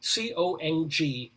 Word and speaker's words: Congdon: is connie tongden see it's a little hard for me to pronounce because it's going to sound like condom but it's c-o-n-g-d-o-m connie congdom probably best known for her